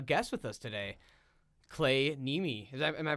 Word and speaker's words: Niemi: my last name's actually Niemi, if you would do like the Finnish Niemi. pronunciation, but we Americanized that a while ago, Copy.